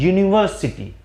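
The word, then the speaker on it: university: जब हम प्रोनाउंस करते हैं, जो इसका सही प्रोनाउंसिएशन है वो होता है, इसको हम बोलते हैं यूनिवर्सिटी।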